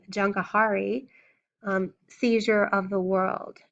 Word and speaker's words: Jahangir: Faith, and the name Jankahari, Seizure of the World. Jankahari is spelled Jahangir.